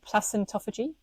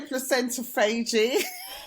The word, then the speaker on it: placentophagy: You might want to keep your placenta for placentophagy, or how do you say it, Kemi? No, I'm saying it wrong. I say placentophagy. Yeah, I think they're interchangeable, aren't they?